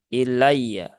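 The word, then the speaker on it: إِلَيَّ: wakaf membacanya ilaiya begitu Padahal kalau wakaf harusnya kan di huruf terakhir disukunkan ya atau dimatikan maka ini berarti ya sukun yang bertasdid ya maka di sini ya ditunaikan tasdidnya Ya dengan menabarkan ilai ya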